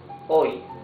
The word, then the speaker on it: hoy: At the beginning, an example is hoy. Hoy is today. We saw it here. Hoy. Today. In the middle of a word, alcohol. Alcohol. You see, in both cases, the letter H is completely mute.